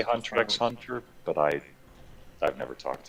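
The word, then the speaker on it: Hunter × Hunter: hawk it's just holic because in japanese x it's kind of like the mathematical unknowns it's like where we would use blank space so yeah it should just be hunter hunter yeah bradford walker says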